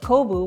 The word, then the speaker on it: kombu: word or you use kombu seaweed which can also be pronounced kobu which is part of